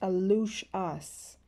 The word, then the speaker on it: aluxes: means the little people and is pronounced a loose us where we found that